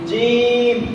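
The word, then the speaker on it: جيم: লাগাইয়া তালুর সঙ্গে লাগাইয়া জিম জিম শিম শিম ইয়া ইয়া জিম জিম শিন শিম ইয়া ইয়া ইয়া তাইলে জিমের উচ্চারণ কেমনে জিম শক্ত করে হ্যাঁ জিম জিম জিম ইয়া মিয়া জি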